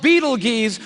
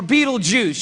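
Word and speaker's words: Betelgeuse: about this star it's called Beetle geese or Beetlejuice you can pick your pronunciation I'm obviously going with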